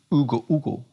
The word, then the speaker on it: Hugo: which is i think if we're talking about spanish i guess it's hugo because you don't pronounce the age right lopez lopez send